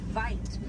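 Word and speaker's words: wyd: Original word for white rhino was vite. Vite means wide in Afrikaans, but over time it was misheard and mispronounced and it turned into the white rhino.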